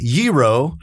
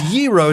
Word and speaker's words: gyro: It's not fier like yro is yro. It's the g is a y. I'm so glad that you pronounce yro that way.